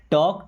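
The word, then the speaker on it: talk: हमारा पहला सेंटेंस है टॉक टू मी। देखिए क्या लिखा है? टी ए एल के। यहां पे एल हो गया साइलेंट।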